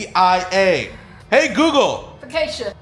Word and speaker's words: focaccia: How do you pronounce the word that is spelled Focaccia?